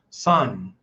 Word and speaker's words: Xuan: Sun. Like it's like S. Okay. The X is pronounced like an S.